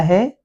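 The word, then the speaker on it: who: हैं उसी प्रकार से डब्लू डब्लू एच वर्ड में ये दो ऐसे हैं जैसे हु और होल यहां पर डब्लू साइलेंट हो जाता है एच के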